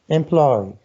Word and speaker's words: employ: Pay attention for this word, employ. How many syllables? Teacher? Okay. 3. 3 syllables. Are you sure about that? Yes. Are you sure they are 3 syllables? Who can tell me? It's 2. 2 syllables, right.